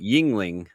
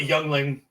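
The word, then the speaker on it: Yuengling: I didn't say it right. Yingling. I knew what it was. I call it Youngling.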